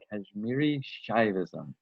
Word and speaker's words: Kashmiri Shaivism: integration of kashmir is that it how you pronounce it it's very important it's it's kashmiri shaivism shaivism yeah and and if you can say